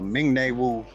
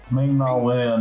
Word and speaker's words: Ming-Na Wen: There was an interview that was done with Ming-Na Wu, or however you say her name. How you say it? Ming-Na Wen.